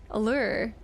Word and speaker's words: allure: Allure is pronounced the same way you're saying lure. Is pronounced the same way you say lure.